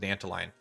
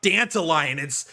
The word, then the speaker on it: Dantalion: It's not Dantalion. It's you're saying it wrong. It's Dantalion. Whatever, bro. All right, calm down. It's one letter away from Dandelion. So I say Dantalion because I like it.